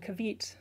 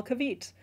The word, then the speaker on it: caveat: I'd read it a lot and so I just called it kavit. So in my head anytime someone was like, "Oh, there's just one small kaviet." And then I heard it in a YouTube video and just sat there for like a whole minute just thinking, "Wow, interesting. Would have never guessed."